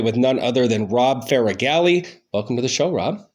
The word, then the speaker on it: Faragalli: studio downtown Ridgeway with none other than Rob figali welcome to the show Rob hey Brent thank